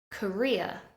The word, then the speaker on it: career: the first syllable necessary career we stress the second syllable career career eventual eventual